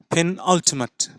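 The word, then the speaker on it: penultimate: let's try टू now give this word it sound पेन पेन ओ टी मट इट्स नॉट मेट इट्स मट okay पेन अल्टीमेट पेन अल्टीमेट पेन अल्टीमेट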